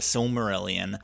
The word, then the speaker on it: Silmarillion: There's a lot of really interesting stories and world building that happens throughout the course of the book The Silmarillion.